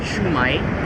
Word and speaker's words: shumai: And actually, there's a version of that in Chinese restaurants, which they pronounce it shumai.